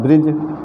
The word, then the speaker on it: bridge: का उच्चारण होता है ब्रिज, BRIDGE। तो यहाँ ब्रिज उच्चारण होता है, ड का उच्चारण, डी का उच्चारण नहीं किया जाता, साइलेंट हो जाता है।